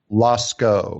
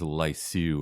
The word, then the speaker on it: Lascaux: Lascaux. Lascaux. Okay, I thought it was Lyceau or something. All right, Lascaux. Well, the French might call it that. I've only heard it Lascaux.